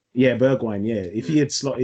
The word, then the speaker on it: Bergwijn: pronounce his name. Huh? Bergwijn. Yeah, Bergwijn.